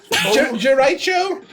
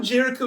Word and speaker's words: Jericho: said your name was gicho oh Jericho sticks I'll I'll like pull up the I'll do a little bit of a twirl with the pencil Jericho oh the H is silent I see that's just